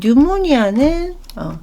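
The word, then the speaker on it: pneumonia: 이 뉴모니아는 여기 보시면 앞에 있는 P가 묵음이죠. 예.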